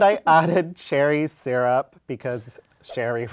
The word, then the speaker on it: Sherry: And I added cherry syrup because Shery rhymes with cherry.